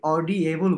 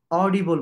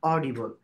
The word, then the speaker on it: audible: এই যে অডিবল কথাটা কিন্তু আমি অডিয়েবল বলি নাই, অডিবল বলেছি, উচ্চারণটা কিন্তু সঠিক অডিবল।